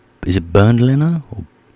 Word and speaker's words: Bernd Leno: that's how you say his name is it bernd leno or birdlinger nice 10 million euros though